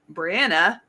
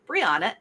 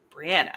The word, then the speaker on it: Brianna: And with me, my latest victim is Brianna, and it rhymes with banana. So, it's not Briana, it's Brianna.